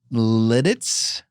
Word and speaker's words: Lititz: Littitz? Oh, Littitz now. Lititz?